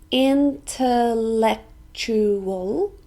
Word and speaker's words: intellectual: literature which means writing intellectual this also has five syllables intellectual and we stress the third one intellectual intellectual it's an